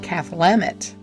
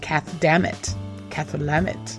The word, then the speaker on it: Cathlamet: I have 2 sons who are working at a hotel up there in Cathlamet, and that's how you say it. It's like Cathlamet, Washington.